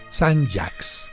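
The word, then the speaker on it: Saint-Jacques: no se dice Santiago solo en francés se sigue separando y se dice Sam jacks y muchos se preguntarán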